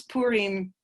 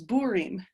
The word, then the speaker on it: Purim: Arab language, from Arabic, to pronounce the P in Purim. So if you pronounce Purim with that accent, it's Burim.